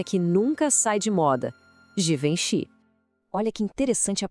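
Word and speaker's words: Givenchy: O G no começo tem aquele som de J, como na palavra gente. Depois vem um som bem nasal, vom. E para fechar, Xi, juntando tudo fica assim.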